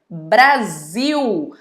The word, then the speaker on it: Brasil: Tem uma que é super conhecida de vocês, que é a clássica Brasil. Brasil é escrito com Z? Não, Brasil é escrito com S, mas é pronunciado com o som de Z.